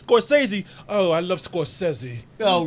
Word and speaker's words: Scorsese: And the right, ironic thing is, it really is pronounced Scorsese.